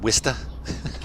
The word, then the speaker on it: Worcester: Like, they have a city like, it's like Worcestershire, and they pronounce it Worcester. Like, you eliminated like 40% or more of the letters in that name.